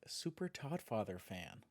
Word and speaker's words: Super Toddfather Fan: Thanks to the lead dev, Super Toddfather fan. What's your name? SDF. Can you spell it? SUPERDTODDFATHERFAN. The D is silent.